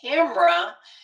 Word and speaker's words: camera: I said camera. I always say that two syllables.